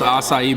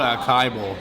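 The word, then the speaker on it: açaí: so it's asai B I used to call it a Kaio because I didn't know how to say it right but you see right here it says it tells you to say sa e anyways it's a superfood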